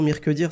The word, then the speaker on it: Mirqedir: Alors, Mirkedir Mirzat, merci beaucoup de répondre aux questions d'Oumavox. Merci à vous. Alors, est-ce que je prononce bien déjà le prénom Mirkedir, c'est ça?